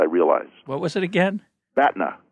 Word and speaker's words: BATNA: planet hoth I realized what was it again Batna spell it the a TNA okay it's an acronym